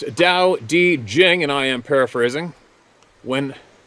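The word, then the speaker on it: Tao Te Ching: man of the forest The Tao tea Chang States pronounced Dao di Jing there we go again why don't they spell it the way it says it sounds kidding pronounced Dao D Jing and I am paraphrasing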